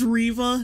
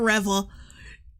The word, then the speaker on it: Reva: pronounce her goddamn name it's Riva not Revel she's not a [